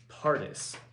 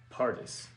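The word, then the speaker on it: פרדס: very interesting the hebrew word for parks is pronounced pardus pardus which is where we get our word for paradise oh yeah paradise okay for parks yeah for parks yeah it's the hebrew word pronounced partus which is where we get our word for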